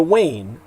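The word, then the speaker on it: UAINE: was ever needed again the wane that's the pronunciation of the acronym u a i n the united american indians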